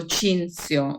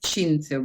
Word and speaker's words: Cinzio: and of course also Cinzio. We call it Cinzio because Cinzio is written with TH and it is the Latin form, but in Italy we pronounce the TH as Z.